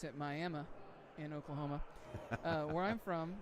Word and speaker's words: Miami: So, not to deviate too much, but Dolan says they pronounce it Miami in Oklahoma.